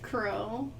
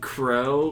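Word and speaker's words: Qrow: gets girl knows best with crew it's spelt with a Q by the way oh wait yes crow like you I know keel are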